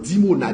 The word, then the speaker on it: Dimona: Iran lancé sous dimona dimona comme ça se prononce dimona i m dimona oui qui t'a blessé dimona